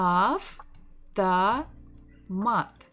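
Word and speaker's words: автомат: Ah, a a mat. Amat. Stressing the final syllable.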